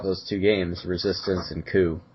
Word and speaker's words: Coup: to check out those two games, Resistance and Coup, C O U P, it's definitely spelled with a P at the end. I I believe it's it's pronounced coupe.